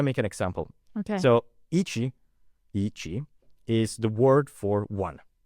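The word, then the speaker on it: いち: But it's still pronounced ichi.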